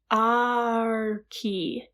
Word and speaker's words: Aki: It's Arki. It's like Aki, but there's an R in there, and I can't pronounce the A and the R.